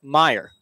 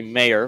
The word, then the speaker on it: Mayer: And now the baton is passed to Matt Meyer. It's actually Mayer, the correct pronunciation. Beg your pardon. Oh, Mayer, some power in his bat.